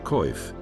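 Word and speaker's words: coif: To seal this critical gap in their defenses, knights relied on a masterpiece of metal work, the male koif, pronounced koif.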